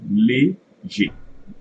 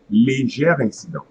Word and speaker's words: léger: Normally, when you have ER at the end of the word, you should pronounce A. But since the next word starts with a vowel, so here it will change little bit the pronunciation of the E before the R. Okay. So normally I should pronounce this one léger, léger. But see where I'm going to add the liaison, so it comes léger incident, léger incident.